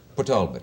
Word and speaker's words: Port Talbot: I have a terrible feeling I might be wrong about the pronunciation of the town in Wales. Is it... Port Talbot. Port Talbot.